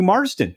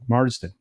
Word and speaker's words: Marsden: the screen uh cc matthew marsden thank you yeah i always get his name wrong marston yeah uh he uh is